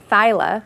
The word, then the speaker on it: Theile: TSA Bikini Girl, Corrine Theile, right? Theile. Sorry. All right. It's spelled not like it's pronounced. But if we spoke German, you'd be right there.